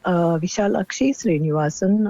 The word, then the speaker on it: Vishalakshy Srinivasan: My name is actually Vishalakshy Srinivasan, and many people find it difficult to pronounce that.